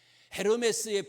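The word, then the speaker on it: Hermès: 속회 예배 때에 헤르메스 나왔잖아요 제우스의 아들 헤르메스 에르메스의 프랑스 프랑스 발음이 뭔가면 그건 에르메스에 에르메스가 뭐예요 명품이야 요즘에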